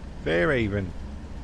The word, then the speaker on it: Fairhaven: Fairhaven. He doesn't pronounce the H.